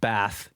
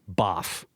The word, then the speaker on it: Bath: Also, I've been reliably informed that Bath in England, which I pronounce B-A-T-H, I pronounced Bath, it's actually Boff. Boff. Boff? That's how you're supposed to say it. Yeah. Boff. Of course. Yes. B-A-A-F. F is how it's pronounced.